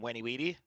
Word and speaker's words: Venividi: That would be the Latin pronunciation, no?